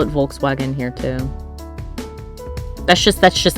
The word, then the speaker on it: Volkswagen: That was the time that everyone realized that in England we've been pronouncing the brand name wrong for years. We've constantly called them Volkswagen, but apparently it is Volkswagen. Oh, we call it Volkswagen here too.